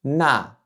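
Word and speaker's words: 那: Ça se prononce na na na Donc encore une fois, gardez bien à l'esprit que pour prononcer ce 4e ton, il faut que vous partiez de votre limite haute du champ vocal et que vous descendiez rapidement. Na na Pour information, ce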